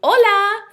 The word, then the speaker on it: hola: doesn't have an H now they are pronounced exactly the same so how would you know if I was saying hola or Ola based on context so